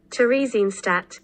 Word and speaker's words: Theresienstadt: Pronunciation, please. Tell me how to say it, please. Theresienstadt.